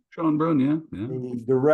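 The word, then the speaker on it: Schoenbrun: And the subject of that news is Jane Schonebrun, I imagine is how it's pronounced, Schonebrun. Schonebrun, yeah, yeah.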